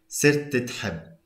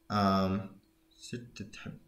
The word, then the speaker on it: صرت تحب: Sirtitheb. Sirtitheb. Yeah, it kind of gets merged a little bit.